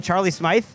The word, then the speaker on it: Charlie Smythe: kick that was successful by, how do you pronounce the name? Charlie Smythe?